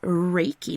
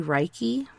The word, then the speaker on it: Reiki: Yes, Reiki Master. And it's funny, like the way it's spelled, I want to say Reiki, but it's actually pronounced Reiki.